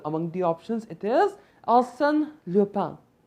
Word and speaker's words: Arsène Lupin: Among the options, it is Arsène Lupin. So Arsène Lupin, or if I pronounce it in French, Arsène Lupin, is the answer to this particular question.